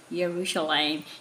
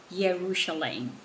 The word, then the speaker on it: Yerushalayim: what did you say yerushalayim is that the right way to say jerusalem in the hebrew way yes yerushalayim all right say it